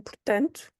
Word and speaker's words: portanto: What's happening here, the words really get pronounced together because you do have that final O in portanto, and the final O is usually pronounced more as a U, but it's not emphasized.